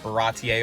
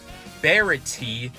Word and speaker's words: Baratie: 20 chapters next is the baratier arc not Verity as a certain YouTuber that I like keeps mispronouncing it why do I get